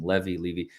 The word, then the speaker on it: Levy: The Hales moved to Levy County, Florida. That's the proper pronunciation because people were asking. Levy.